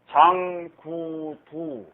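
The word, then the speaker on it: 句讀: 장구두. 장구두. 이렇게 하면 구두점 할 때 구두 아닙니까? 구두점이라고 이렇게 쓰죠? 이거 독이라고 읽으면 진짜 이거 아주 망신합니다.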